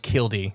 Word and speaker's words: Killdeer: or killed deer but it's pronounced kildy. Yep. Yep. In old English cuz it's you don't pronounce the R in it.